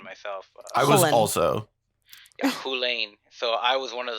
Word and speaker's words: Chulane: Spleenface correcting people from Hullen when they say Chulane? Effectively? Yeah, I believe so, yeah. I actually was mind blown by that pronunciation myself. I was also. Yeah, Hulane.